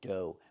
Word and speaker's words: dough: Pronunciation do. Make the long O like no and go. and the gh is silent.